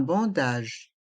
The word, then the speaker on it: bandage: bien un plat un bandage les lettres a et n font le son en un bandage un plâtre